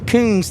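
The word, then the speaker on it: Kountze: Okay, June Berlin says pronounce Coons. Coons, Texas. Okay. All one syllable.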